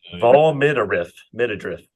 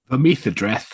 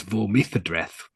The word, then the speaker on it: Vormithadreth: Yeah, no, because he actually Smith made that as a play on words. Vormy's address with a lisp, because that's where the Vormis live. So it was Vormithadreth.